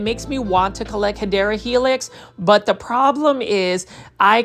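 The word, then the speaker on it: Hedera helix: And for those that are new to the channel, we do mispronounce hyera helix as hedra helix.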